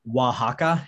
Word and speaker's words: Oaxaca: You pronounce it Oaxaca, and if you've seen the movie Coco by